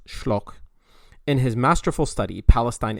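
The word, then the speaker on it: Schölch: the late alexander and i think the names pronounced shlok in his masterful study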